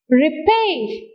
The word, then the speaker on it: repair: Repair. Where do you hear the stress? On the second syllable.